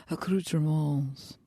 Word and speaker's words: accoutrements: We would call those accoutrements. To go. And you don't pronounce the S, but fuck you, Grammar Dragon.